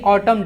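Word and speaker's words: autumn: इट वॉज a windy ऑटम डे। ऑटम का spelling देख लीजिएगा, TU के बाद MN है। जिस तरह से कॉलम लिखा जाता है ना, COLUMN, उसी तरह से भी ऑटम है।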